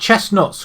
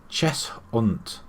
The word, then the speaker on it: Cheshunt: Right, we've got Chestnuts coming up next, or Cheshut. I thought it's Chestnut. It's Cheshunt. Cheshunt.